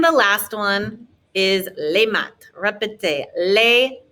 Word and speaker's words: maths: Les maths. No TH sound in French. So lots of words have TH, but it just ends up being a T sound. And of course, our S is silent.